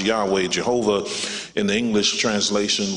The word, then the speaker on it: Yahweh: This Yahweh is in Hebrew script has no vowels, and the Hebrew Bible is pronounced Yahweh, Jehovah, in the English translation, which means that